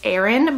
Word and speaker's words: Eren: His name is Aaron Michael and it's spelled E-R-E-N, which I think is super cute.